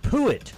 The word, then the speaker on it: Puett: So it's Puett. It's Pruitt without the R. It's a U, Puett.